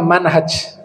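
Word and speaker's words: منهج: pakai Alif bacanya minhaj kalau huruf hanya tanpa Alif bacanya Manhaj kalau hanya pakai Alif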